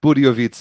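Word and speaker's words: Budějovice: Budiovice. It's Budiovice. Yeah, don't pronounce the J.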